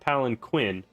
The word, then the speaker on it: palanquin: pillow on her palan King palan oh it's pronounced Palin key not palanquin um also I just want to let you